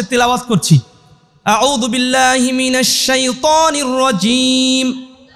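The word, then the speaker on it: رجيم: মিনাশ শাইত শাইতানির রজিম রজিম জিম কি জিম তো আর জালের মতো না জিমটা চাপ দিয়ে উচ্চারণ করতে হয় রজিম তারপরে বিসমিল্লাহির বিসমিল্লাহির মা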